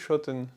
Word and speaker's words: Schotten: It is a German word, so the correct pronunciation is ‘Shotten’ 21 years later, I think, to be precise Why a sequel 20 years after the first one?